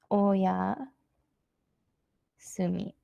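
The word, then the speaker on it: おやすみ: informal way of saying goodnight and that is oh yeah sue me and it's without the new site instead the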